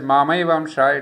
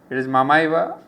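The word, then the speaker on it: ममैव: my own amsha, well, I had mispronounced it as Mamaiva amsha. It is Mamaiva, Mama Eva amsha. It's a short ma.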